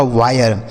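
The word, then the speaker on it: wire: डब्ल्यू आई आर ई यह लिखा गया आपका वायर।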